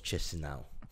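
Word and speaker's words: Chișinău: is not wrong but that's the English pronunciation always Chisinau well that's yeah yeah well I got told by a person who speaks Russian there was quiche snob but the dawn cheek speak more boven and Moldova so it probably has pronounced definitely so I'm probably pronouncing the English version of a Russian version of a Moldovan word so I'm probably really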